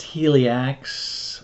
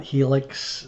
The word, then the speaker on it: Helix: Yes, that's really supposed to be pronounced Helix, not Helix. It's Helix.